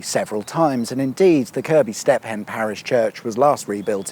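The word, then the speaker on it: Kirkby Stephen: context of place names around here is actually pronounced Kirby. Fair enough, thanks for the information, and with that in mind, welcome to Kirby Stephen, a slightly larger village of around 2,000 people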